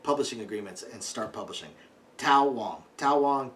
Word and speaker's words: Tao Wong: Tao Wong, however it's pronounced, because Taoism is pronounced like it's a D. Tao Wong.